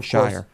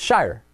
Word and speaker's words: Sheirer: You're saying it almost as if it was S-H-E-Y-E-R, and I believe I'm pronouncing it more the way it's spelled, which is S-H-E-I-R-E-R.